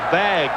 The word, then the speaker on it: vague: Olympic Stadium doing the vag V AE which is the French pronunciation of the wave and it's spelled v